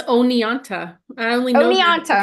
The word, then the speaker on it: Oneonta: Yeah, 1933, Ananta, New York. I'm sure I'm pronouncing that wrong. It's O-N-E. That's Oneonta.